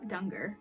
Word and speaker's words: Danger: Oh, before that, this book is about Rico Dunger, spelled danger, but pronounced Dunger.